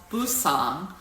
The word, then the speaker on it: Busan: Sometimes you see it spelled with a B for Busousan and sometimes you spelled with a P, Busan. But in in Korean there's not really a difference. You can use either. It's interchangeable.